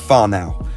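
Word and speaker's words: whānau: so to finish there's a marry word he taught me when I lived here pronounced far now which means extended family and I can safely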